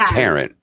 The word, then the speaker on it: Taryn: Taryn, Taryn, how would you actually pronounce it? It's Taryn.